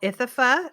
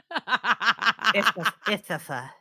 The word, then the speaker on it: Ithafa: This is called Ithafa. It's a Western Cape Shiraz. I'm sorry, what? Ithafa. It's spelled like the college Ithaca, only with an F instead of a C.